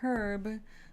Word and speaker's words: herb: the herb but it's herb unless paired with other words that make it sound stupid I forget the exact rules but for most part yes please do pronounce the h it's correct okay let's see whoa